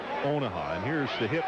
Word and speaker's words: Onaha: Like Omaha, but it's Onaha.